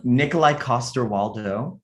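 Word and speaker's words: Nikolaj Coster-Waldau: And he has worked with can you help us pronounce that name of that famous actor, Ron, real Yes, quick? yes. Yes. Nikolai Coster-Waldau, Okay.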